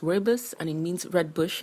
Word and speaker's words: rooibos: this tea is pronounced wordless and it means red bush in the africans